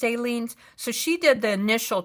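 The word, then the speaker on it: Aleene's: I never say I think this is Ailen's. I think it's pronounced aliens.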